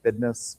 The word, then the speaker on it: bidness: in by the way in Oklahoma we pronounce that bidness, B I D ne SS, oil business.